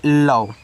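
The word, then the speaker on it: love: एल ओ वी ई इसको पढ़ते हैं लव। ऐसे ल और व लव। इसका तो उच्चारण होता नहीं है।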